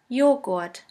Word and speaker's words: Joghurt: The letter J is pronounced like the Y in the word yogurt. The German translation for yogurt is Joghurt.